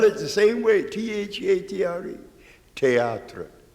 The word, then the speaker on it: théâtre: the same way, T-H-E-A-T-R-E, théâtre. Théâtre in French. He can't say it, theater. Now, he has a lot of words within it, but they're not stupid enough to pronounce it like we do.